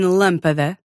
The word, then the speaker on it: lâmpada: So if you see an acute accent, Like in fácil. Or a circumflex accent. As in lâmpada. Or even one of those little nasal tilde things. As in coração. In all of those cases, you stress the syllable with the diacritic.